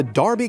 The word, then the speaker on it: Derby: I doing in the city of Darby anyway annoyingly not pronounced Derby well Darby just won a very